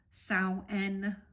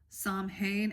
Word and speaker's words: Samhain: In the ancient Celts used to call the time of the longest night of the year Samhain, which is spelled S-A-M-H-A-N.